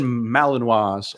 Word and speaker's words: Malinois: Belgian Malinois, also known in America as Malinois, but people don't know how to pronounce it.